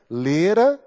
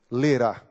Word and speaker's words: lerá: Lera. lerá. A diferença é uma sílaba tônica, né?